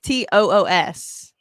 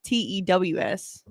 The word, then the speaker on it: Tuesday: You say it like TOOS. I say it like TEWS.